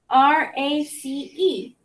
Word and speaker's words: race: c is our consonant and then our sneaky e is our silent e so we never hear that e it's always sneaky all right so that